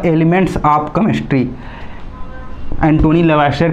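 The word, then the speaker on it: Lavoisier: कहीं कहीं पर इसको इसके प्रोनाउंसिएशन के अनुसार देखेंगे तो लेवासियर भी होता है, तो इसमें कंफ्यूज होने वाली बात नहीं है।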